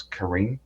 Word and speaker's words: Karen: Karen or Karen people I might just call it Karen but I think I might pronounce Karin Karin Karin okay so